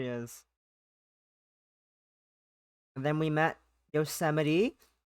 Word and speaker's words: Yosemite: And then we met Yosemite. Not pronounced Yosemite, as I almost did.